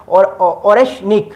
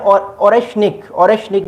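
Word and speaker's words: Орешник: नाम बता चुका हूं कि इसका नाम है ओरेशनिक। मैं इसको प्रोनाउंस करने की कोशिश कर रहा हूं, बट रशियन लैंग्वेज है तो यू कैन अंडरस्टैंड कि हम डिफरेंट ज़बान बोलते हैं, बट इसका नाम है ओरेशनिक।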